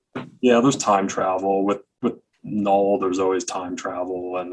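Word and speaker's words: Knull: And K is silent. Yeah, K is silent. Null.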